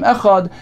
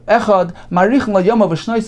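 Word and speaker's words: אחד: He should prolong the pronunciation of the word of the letter dalet, meaning he should not prolong the ches, but rather the dalet, as Rashi explains, if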